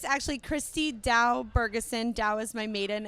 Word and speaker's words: Kristie Dowe: to Commander echo's guest of honor we have Christy da with us is that am I pronouncing that correctly yes you are pronouncing it correctly simplest name ever Christy da yeah she has she has three titles you